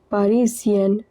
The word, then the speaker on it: parisienne: Pronunciation of banlieue is banlieue, and for this it is parisienne. S is in the middle of 2 vowels, so it is pronounced as Z. I-E-N-N-E is pronounced as En.